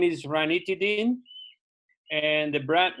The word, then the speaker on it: ranitidine: Zantac, generic ranitidine. Again, we pronounce it as tidine, not dine, okay? I know we pronounce I-N-E as ine, American way, American English, but for drugs, we do ranitidine, okay?